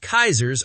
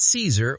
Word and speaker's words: Caesar: I believe Kaisers are German. First of all, shame on the writers. The original Latin pronunciation is Kaiser, not Caesar or Kaiser.